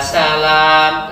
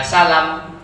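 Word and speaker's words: سَلَام: Kemudian ya Kudus, ya Salam. Lanya panjang. Ada yang pendek ya Salam, ya Mukmin, ya Muhaimin.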